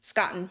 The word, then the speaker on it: Scotten: Scotten.